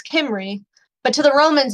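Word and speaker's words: Cymru: call it Cambria the the Celtic peoples it's kimry but to the Romans it's Cambria so this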